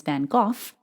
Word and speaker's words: van Gogh: I’d also like to mention that the other pronunciation of his name is “van Goff,” which I’ve heard on BBC reports and documentaries.